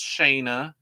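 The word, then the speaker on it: Shanna: was shayna i had i've confirmed that her name is pronounced shayna we're gonna keep it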